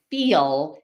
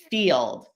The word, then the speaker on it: field: And I already gave you that example of the word feel if you're dropping that final sound in field. And similarly, the word told, I told you, would become the word toll, something you pay on a road.